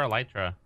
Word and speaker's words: Elytra: We're looking for Elytra. Elytra side is the correct pronunciation.